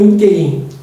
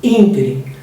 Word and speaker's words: ínterim: Ínterim ou interim? Ínterim.